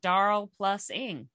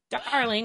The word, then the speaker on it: Darl+ing: is for i'm sure i'm gonna say it wrong daryl plus ing that doesn't make any sense doesn't seem like but it's darling with a plus in the middle so i've got a